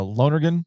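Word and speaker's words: Lonergan: Uh Lonergen at BC, right? That's how you pronounce his last name.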